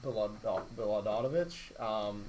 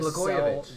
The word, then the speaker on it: Blagojevich: to be mayor, or I'm going to pronounce his name wrong. Rod Baladonovich, the former right, governor. That went to he tried to Blagojevich. sell Blagojevich, correct.